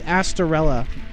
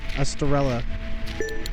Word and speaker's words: Astorella: to the Australia stock so many people pronounce star's name completely different I've I've learned that it's astorella and everybody goes estarella we don't do stream